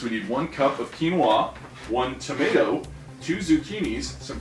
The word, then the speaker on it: quinoa: says here we're gonna make uh quinoa it's pronounced quinoa it's a pseudo grain from south america it's